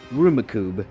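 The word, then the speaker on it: Rummikub: a board game called rumikub yup there is this obscure board game that is almost pronounced like Rubik's Cube but it's actually pronounced rumikub so Marvin then goes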